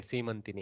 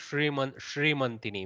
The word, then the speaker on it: Seemantini: But it's a beautiful name, Seemantini. Yes. That in Bengali pronunciation becomes Shrimantini, which is nice. Yeah, Bengali, we say Shimonti.